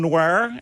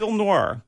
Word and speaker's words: noir: certainly does so well is that how you say it noir you see it kind of oddly i thought it was film noir noir hey look i'm from